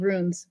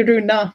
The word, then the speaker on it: Rune: I want to say Runa, but that's a girl. No. Yeah, yeah. No. Rune. Rune. Because the E in Norwegian on the end is spoken and it's pronounced eh. Yeah. In English, it's silent.